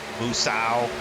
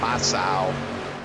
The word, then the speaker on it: Moosau: I know it's like Moose. Moosau, like a moose. When they first joined the league, I used to call them Masau, but I've been corrected.